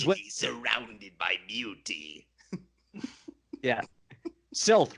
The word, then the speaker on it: Silth: surrounded by Beauty yeah silth rhymes with filth which is pretty much her disposition so she basically tells